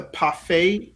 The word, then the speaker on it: Parfait: I think the parfait. Did I say it right? Parfait, yeah, it's like Popeye but with an F.